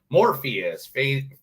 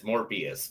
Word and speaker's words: Morbius: No, Morbius with a B. No, Morpheus with a P. No, just say it correctly. The way that people know it's said. It's Morbius. But anyway, Starring who?